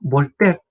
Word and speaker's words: Voltaire: Sí, lo que pasa es que este caballero, Voltaire, así se pronuncia, Voltaire es el que en la Ilustración está a cargo de la tolerancia religiosa.